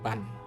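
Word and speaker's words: 万: এটার উচ্চারণ হবে মান এবং বান দুইটাই হবে।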